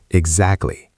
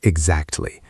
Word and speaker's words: exactly: The T in exactly is often silent in rapid speech or very soft. Exactly. Or exactly.